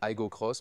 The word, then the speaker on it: Aygo X: Juste avec l'iGo, on dit iGo Cross, mais c'est écrit iGo X.